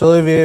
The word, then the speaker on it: Olivier: It's Olivier, but it's usually easier to pronounce Oliver, especially with all the cameras going on.